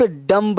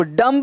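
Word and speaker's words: dumb: हो है कि हम केवल बीजू तो इसका उच्चारण नहीं हो इसे आप डम है अब डंब में बीज है एम के बाद भी है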